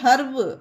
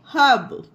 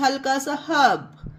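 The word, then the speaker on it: herb: है इसका उच्चारण इसे हर्ब नहीं पढ़ना है गाइस यहां पर ये देखिए आर के बाद बी है और बी होता है हमारा कंसोनेंट तो यहां पर पढ़ेंगे हब बस हल्का सा हब ठीक है गाइस इसे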